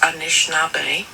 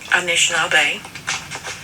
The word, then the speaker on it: Anishinaabe: I just wanted to share with you how we, the Anishinaabe people, pronounce Sabe, and that's it. Sabe is how you pronounce S-A-B-E, and that is what we call Sasquatch, Bigfoot, Sabe. The other is Anishinaabe, and that is interchangeable with Ojibwe, Chippewa, and Anishinaabe.